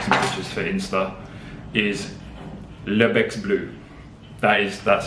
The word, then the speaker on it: Le Bec Bleu: pictures for Insta, is Le Bec Bleu. That's how you say it. When you say Bec Bleu, you have to say Le Bec Bleu.